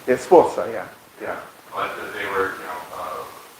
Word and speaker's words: Sforza: What about Catherine Schwarza from the, her husband was like a Duchy of Milan, and she was Yes. the, I could mispronounce her name. Yeah, Sforza, yeah.